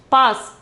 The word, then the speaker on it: पास: Pass. Pronunciation is pass.